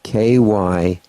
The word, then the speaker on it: Kyani: K-Y, it's spelled K-Y-A-N-I.